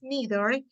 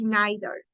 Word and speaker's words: neither: neither okay in uh in America we pronounce neither in Britain they say neither okay so both pronunciations are okay you can say neither or you can say neither both are okay okay let's say let's